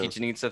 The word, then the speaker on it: Chichen Itza: Chichen Itza? Is that how you pronounce it? The place Chichen where they have the Itza. Mayan ruin? No. Chichen Itza, thank you.